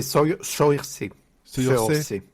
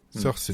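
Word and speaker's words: Saoirse: c'est sa Ronan sa je sais pas comment comment on le prononce c'est S a o i r s e c'est sur C sur C voilà je serai jamais Adrienne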